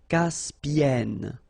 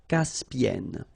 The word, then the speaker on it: Caspienne: And N, so it does open the sound here. So it's E. Caspienne. Caspienne.